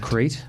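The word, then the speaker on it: Crait: That's Battle of Crate? Yeah. Spelled like the country? C-R-A-I-T.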